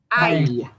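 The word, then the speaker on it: hay: want you to notice H's never get pronounced. The one and only true silent letter is H. So you will not hear me pronounce an H on this first example of the Y word. And the word is I. Ay.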